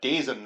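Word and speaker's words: DAZN: They've now also opened it up to YouTube, and I believe just recently also struck a deal with the application Dazen or Dazen, I believe it's pronounced.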